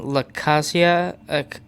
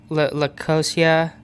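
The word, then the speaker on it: Loáisiga: I've been saying this person's last name wrong the whole time. It's Jonathan Lacasia. Lacosia.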